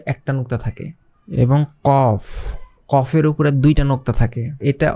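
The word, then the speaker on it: ق: নুক্তা থাকে এবং কফ কফের উপরে দুইটা নুক্তা থাকে এটা অনেক জটিল একটা ওয়ার্ড এটাকে আপনাদের প্র্যাকটিস করতে হবে এটা হচ্ছে কলকলার হরফ কফ একদম ভিতরে থেকে আসবে কফ তারপর হচ্ছে কাফ এই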